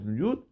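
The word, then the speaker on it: יוד: Il faut bien prononcer le Yud. J'étais Nikret Yafé. Parce que sinon, s'il va trop vite, il va avaler le Yud. Donc il faut qu'on entende le Yud.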